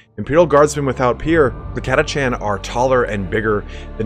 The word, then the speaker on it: Catachan: this actual video is the pronunciation of Katich an I've heard it pronounced katha can I was in like a in an audio book that came out in like 2016 or 2017 but I'm gonna stick with the way I've always pronounced it which is Katich an if you prefer pronouncing in a different way it's totally on you not a big deal